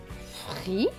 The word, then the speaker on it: frise: Mais comme le S est entre deux voyelles, le S va se prononcer Z. Donc, S et E, Z. Donc, ce mot va se lire frise, frise, frise.